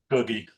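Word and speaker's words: Guggi: brother of Bono's good friend is it GUI pronounced GUI googie googie okay yeah so the opening track I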